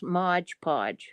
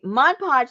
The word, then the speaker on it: Mod Podge: is that sticky okay no you had to say it like everybody else Modge Podge Modge Pudge okay Mod Podge let me tell you